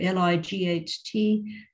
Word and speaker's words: light: pronunciation of things like l-i-g-h-t how that is pronounced in english light not like or whatever uh ph